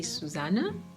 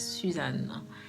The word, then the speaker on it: Susanne: Some people call me Sue, and in German, some people say Susanne, but the pronunciation is Suzanne.